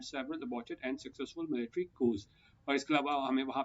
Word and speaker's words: coups: कू क्या होता है, इसको COUPS को कू पढ़ते हैं, पी साइलेंट होता है, तो कू होता है